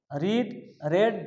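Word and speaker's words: read: মানে past participle form রেড রেড বানান এক উচ্চারণটা আলাদা হবে তাই এখানে রেড হবে এবার এই সাবজেক্ট অবজেক্ট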